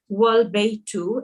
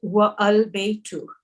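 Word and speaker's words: والبيت: For example, al-baytu, here the A is pronounced, but if it is preceded by wa, meaning and, the A is dropped and the phrase is pronounced wal-baytu and not wa al-baytu.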